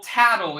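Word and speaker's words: Tatl: has won today's so that's how her name's pronounced okay yes tattle and pale which you know yeah i get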